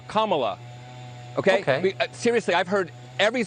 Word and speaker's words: Kamala: um hosts on Fox her name is pronounced Kama like the punctuation mark La Kamala okay seriously I've heard